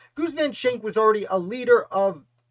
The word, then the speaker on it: Goose Van Schaick: also pronounced their name goosen so i am going to pronounce his name goosen as best i can though it looks like goose to me and if i slip